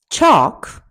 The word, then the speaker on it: chalk: Bomb, bomb, calf, calf, calm, calm, chalk, chalk, could, fork, fork, half, palm, salmon, should, talk, walk.